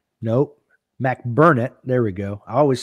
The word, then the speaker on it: McBurnett: One of the range master for the Virginia State match, Jim McBurnett. Nope. McBurnett. There we go. I always say his name wrong.